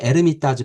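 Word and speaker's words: Эрмитаж: 거기에 에르미타즈 박물관. 그 러시아어는 H가 묵음이거든요. 그래서 영어의 헤리티지가 이제 러시아 말로 에르미타즈입니다.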